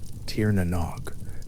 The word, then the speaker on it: Tír na nÓg: Tier Nog. Three syllables spoken slowly in the dark.